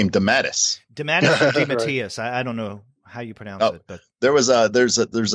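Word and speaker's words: DeMatteis: but it's got a pronunciation guide - often mispronounced creators and his is on there and it says de mattis man good there we go I mean Ralph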